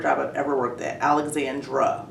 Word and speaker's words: Alexandra: Okay, so I called you by your nickname, but your name is actually Alexandra. Correct. That's the correct pronunciation.